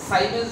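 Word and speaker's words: siemens: সেরকম এসআই পদ্ধতিতে এটাকে বলা হয় সিমেন্স। এই ওহম ইনভার্সের নাম হলো সিমেন্স, মানে পরিবাহিতার একক সিমেন্স। সাইমেন্স বলে কেউ উচ্চারণ করে, সাইমেন্স।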